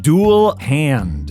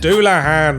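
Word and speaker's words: Dullahan: Dual hand. Doulahan. It's a headless horseman from Irish folklore, you gigantic tit.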